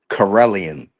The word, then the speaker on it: Karelian: Pronounce the name. Ready of the dog. Carellian.